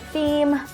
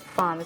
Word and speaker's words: Femme: I didn't know that it was supposed to be pronounced like that, so I was going on and on pronouncing it as a Velvet Theme on the first half of the video, and then I thought maybe I should search how to pronounce the word, and according to YouTube, it is pronounced as Femme.